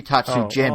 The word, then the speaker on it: Tatsujin: How do you say it? Tatsujin. Thank you. For some reason, I put H in my notes instead of J, so I was really confused. Like it should be Tatsujin, but I wrote Tatsuhin,